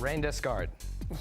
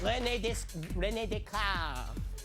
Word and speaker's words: René Descartes: Rain Descartes. Oh, yes, but boy, you mangled that pronunciation. You should have said René Descartes.